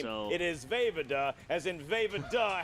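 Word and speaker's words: Vejvoda: so- It is Vavada, as in Vavada. How can you not pronounce that correctly the Yeah, first well, he time?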